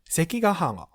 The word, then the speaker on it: 関ヶ原: ke, (sarcastically) how intuitive The examples here reads sekigahara, senjyogahara hitagi, ichigaya basically this just connects two things to make new word.